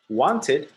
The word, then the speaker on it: wanted: So want, one syllable. In the past, wanted, or wanted, it has two syllables. Okay? Two syllables.